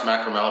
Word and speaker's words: Macaramalla: It's pronounced Macaramalla, but don't worry, my mom can't pronounce it either. Macaramalla, okay, excellent.